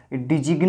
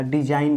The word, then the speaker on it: design: SIGN, सिग्न नहीं बोला जाता था, डिजिग्न नहीं बोला जाता था, डिजाइन बोला जाता था, साइन बोला जाता था।